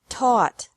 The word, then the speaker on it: taught: seek sought sought teach taught taught think thought thought remember that the g is silent in these verbs verbs with three different